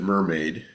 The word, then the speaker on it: MRMD: you what mrmd is you can pronounce it mermaid I've encouraged that but I haven't actually heard anyone call it mermaid um and so then